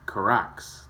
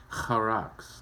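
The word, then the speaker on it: χάραξ: Scratching, etching, karax. There it is, karax. Charax. Let's hear him say it. I butchered it. Strong's G 5482. Charax. Charax. Charax. There we go.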